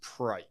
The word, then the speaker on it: Preik: It's Preik. It rhymes with bike, and that's okay.